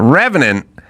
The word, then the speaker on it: Revenant: And The Revenant, am I pronouncing that right? Yeah. The Revenant, it was very clear in that movie, and they do this a lot weirdly.